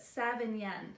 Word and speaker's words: Sauvignon: is part of the seven young family so not Savion Blanc not Cabernet Sauvignon not that family but seven yen so SAV AG ni n7 Yin and this family is